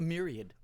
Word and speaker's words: myriad: of us live in a merid of different places a myriad a merid uh I it's spelled m y r i a d oh m y r